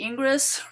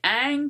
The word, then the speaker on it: Ingres: again it looks like ingress the way you pronounce it but you're going to say ang because it's french and this is called the grand odolesque from uh uh 1814.